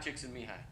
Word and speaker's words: Csikszentmihalyi: Mahali Csikszentmihalyi? Mihai Csikszentmihalyi. The L is silent.